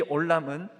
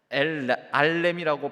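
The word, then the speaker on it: עולם: 그런데 이 올람은 발음에 따라서 알렘이라고 발음할 수도 있는데, 똑같은 어근을 가진 이 히브리어 단어는 영원한이라는 뜻도 같지만 감추인, 감추다, 숨기다, 숨겨지다라는 뜻도 같습니다.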